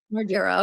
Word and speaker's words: Margera: Margera.